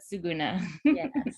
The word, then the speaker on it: Suguna: Yeah, it's like Laguna, but Suguna. Yes. And that's how I remember to say it properly.